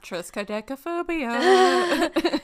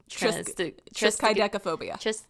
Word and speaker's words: triskaidekaphobia: And then it was like, it's literally 3 and 10 fear. I'm sorry if anybody has Triskaidekaphobia. Triskaidekaphobia. Tris is 3, Kai is and, Deca is 10, phobia is fear.